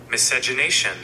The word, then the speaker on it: miscegenation: Miscegenation.